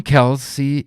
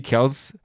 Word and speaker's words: Kelce: For me, it's Kelce. So it's right. The real Kelce brother, Jason Kelce. So basically, even the Americans don't know how to pronounce it, and it should be Kelce, depending on history, but Jason said, I say Kelce, so call me Kelce.